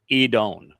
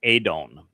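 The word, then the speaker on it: אדון: So Yahwa Edone, our upright pillar and firm foundation. Now when we're considering the uh this word edon, it is typically rendered as adon uh and then as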